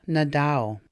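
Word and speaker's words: Nindaaw: There's a sound not really found in English, ow, unless you're hurt, ow. We're identifying ourselves. I am blank. Odawa Nadao.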